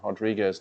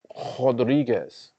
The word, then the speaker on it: Rodriguez: it is that Marina she is yes Brazilian so I'm gonna say it's pronounced Rodriguez here's the thing with with Brazilian the r's are H's but uh Alex Pereira